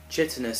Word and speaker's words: chitinous: When the script said the Doctor says thick, chitinous skin, John Pertwee asked Barry Letts how to pronounce it and he told him chit instead of kite.